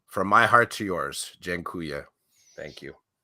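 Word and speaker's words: dziękuję: space for a combo jinkuya is how you say thank you in polish so i'll say to you aldo from from my heart to yours jengkuya thank you it's not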